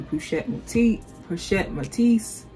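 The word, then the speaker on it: Pochette Métis: It reminds me of the Cassie, and the Cassie, of course, is a nod to the Pochette Matisse.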